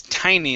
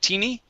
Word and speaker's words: tiny: good r sound okay this word here is tiny instead of teeny okay he felt a